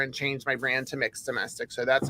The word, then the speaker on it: Mx Domestic: that don't know me hi I'm I'm mixed domestic I used to be known as Mr domestic and then I uh came out as non-binary back in October and changed my brand to mixed domestic so that's how it's pronounced now but yeah